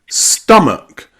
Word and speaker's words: stomach: It's found in words like come come or sum some or company. Company and stomach. Stomach. You've got that uh uh like a stressed schwa sound. Okay. Uh uh stomach company. Sum and come. Okay. Stomach, company, sum and come with that uh uh sound.